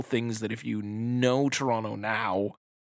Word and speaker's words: Toronto: If you pronounce Toronto with the second T, this movie is not for you.